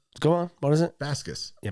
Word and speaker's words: Baskis: Baskis. Yeah, Baskis.